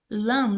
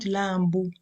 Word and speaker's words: lamb: Lamb, not lambu.